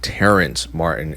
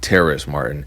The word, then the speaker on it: Terrace Martin: It is not Terrence Martin, it's Terrace Martin.